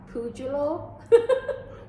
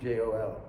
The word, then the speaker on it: Pujol: But I think I pronounced it wrong. Pujulo? Julio. It's Pujlo. No, How was it spelled I think then? it's Pujol.